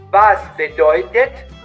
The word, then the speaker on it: Was bedeutet: Was bedeutet het? Con la T bien pronunciada. Was bedeutet?